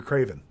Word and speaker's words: Craven: I used a K. C. Yep. Yeah. See, he's calling you a Craven. He's calling you a coward. I'm used to hard C sounds just starting with K.